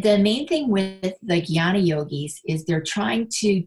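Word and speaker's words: jnana: next path is called gyana yoga and it's spelled j-n-a-n-a and that is the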